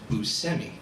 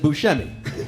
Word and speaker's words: Buscemi: And you'll notice I introduced you as Buscemi. Because of my extensive research, I learned that that's how you pronounce your last name. That's true. Even though everyone else in the entire world pronounces it Buscemi.